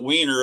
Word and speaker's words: Weiner: uh I don't know he pronounces it weiner it seems like it would be Winer because weiner is spelled differently than why I don't know the